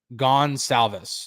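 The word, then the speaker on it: Gonsalves: don't say it correctly gon salvis there you go um is how you say uh say his name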